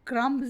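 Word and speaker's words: crumbs: The bird is eating bread क्रम्स, क्रम्स नहीं पढ़ते, क्रम्स, B silent है।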